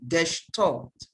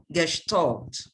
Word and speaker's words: Gestalt: cognitive theory of learning please note the uh pronunciation of that word gesh taught gestalt yeah what is the theory